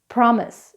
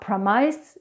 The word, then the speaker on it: promise: for example the word promise it's not promISE its promise vegetable it's not veg-e-table